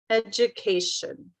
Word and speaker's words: education: do we have education education the third syllable right so i can say education education education education so whatever you